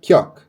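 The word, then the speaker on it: 기역: Basicamente seria o G, que é o nosso Kok. É assim que se fala, né? Kok. Obviamente o som dela não é Kok, né? Você não vai ficar falando tipo, ah, Kyok, a não é assim que fala. O som dela é som de G.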